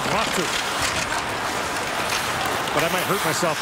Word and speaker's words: Latu: Latu comes in. If you really want to say it like a Finn, it's Aku Latu.